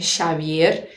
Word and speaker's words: Xavier: Nome de pessoas e lugares da Espanha, onde se fala o catalão e o galego, podem ter pronúncia de X, de che, como em Xavier.